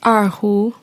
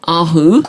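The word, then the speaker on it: erhu: instruments one that you've also mentioned how' you pronounce it again aru aru yes and then the violin and this is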